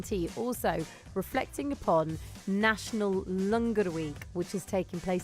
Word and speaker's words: Langar: start for afternoon tea also reflecting upon National Langar Week, which is taking place this week. So across the West Midlands and the country, Langar is being served.